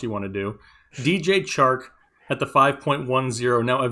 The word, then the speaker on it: Chark: enjoy talking about because his name rhymes with charkweek and you can sing baby shark with him and not anything else you want to do dj chark at the 5.10 now